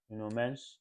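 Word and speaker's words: Nuno Mendes: So congrats to No Mench. Um, yes, I like to pronounce their name properly.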